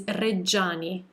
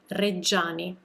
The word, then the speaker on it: Reggiani: super common mistake that english speakers make when pronouncing italian names with a gi or with a ci and another vowel following and this is a